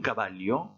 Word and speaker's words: caballo: Tout simplement parce que votre mot se termine par une voyelle et c'est l'avant-dernière syllabe qui doit porter l'accent tonique. Je répète les deux mots, un caballo, un caballero.